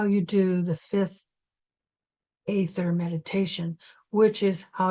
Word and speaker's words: aether: In America, a lot of people say ether and just spell it with an e, but it's actually a e as one letter together. Uh, so I say it as etherether the way the Europeans do so that you don't